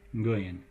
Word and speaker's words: Nguyen: The name, if you've seen Nguyen, I don't have good Vietnamese pronunciation, but it's something like Nguyen, where the first sound is ng.